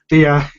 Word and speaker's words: Diabobolo: Like it's funny though that you bring up what is it, Diabolo? How do you pronounce it? Diabobolo.